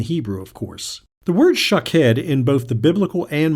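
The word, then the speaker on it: שָׁקֵד: Almond is shakhed and watch is shokhed.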